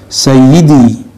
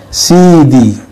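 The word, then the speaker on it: سيدي: Sayyidi, kalau di orang Arab yang fasih bacanya Sayyidi, sampai dalam dialek harian jadi Sidi, bukan CD celana dalam, bukan CD yang diputar jadi kaset, bukan. Sidi, bacanya ada tekanannya, Sidi.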